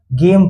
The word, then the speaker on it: game: वैसे ही GAME, यहाँ पे जी के बगल में आई है? नहीं है। ई है? नहीं है। वाई है? नहीं है, तो इसलिए इसे हम लोग गेम पढ़ेंगे।